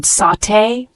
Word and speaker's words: sauté: layer of hot oil shallow fry the word sauté spelled s u t it's a verb pronounced sauté this means to cook quickly in